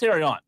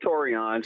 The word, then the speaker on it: Torion: What's up, Terrion? What's up, guys? This is, and it's pronounced Torion. Torion, I'm sorry.